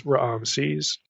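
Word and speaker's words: Ramses: referred to directly as Raam sees and I'm saying Raam sees for a that way for a particular reason we'll get to that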